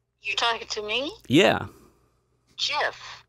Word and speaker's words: GIF: How do you pronounce it, Neil? You're talking to me? Yeah. JIF, right?